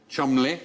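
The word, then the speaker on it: Cholmondeley: f Shaw yes did you know that was pronounced I know CH Chumley the second one CH maning as in Captain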